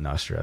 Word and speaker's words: Nostr: is nostru yeah so not i call it nostra because i have an app called dominus so nostradamus anyway so but some people call it nostra um yeah so nostra was an attempt it